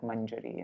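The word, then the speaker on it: mañjarī: I mentioned this, but this N becomes a Y, or an I and a Y, if there's a vowel on either side. If there's no vowel on either side, then you pronounce it like manjari and like that, kunje.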